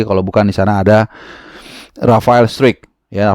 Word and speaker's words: Struick: bukan di sana ada Rafael Strick ya Rafael Strick atau Rafael Strike bacanya seperti itu ya yang akan menghadapi Per